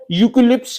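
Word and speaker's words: eucalyptus: England से आए थे इसको यूक्लिप्स भी कलते हैं उसके स्पेलिंग होते हैं यू से स्टार्ट नहीं होता ई से स्टार्ट है ई यू सी ए एल वाई पी टी यू एस फिर बोल देता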